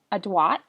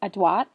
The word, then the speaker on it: adroit: Our first word for this unit is adroit, which is kind of a funny pronunciation. I'll give it to you again, adroit. And you kind of say the R like a W because it comes from French. It's an adjective.